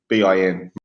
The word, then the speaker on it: Melbourne: Well, we say, yeah, in Melbourne, we say it's basically pronounced the way you would type it is Melbin, Melbourne. Melbourne.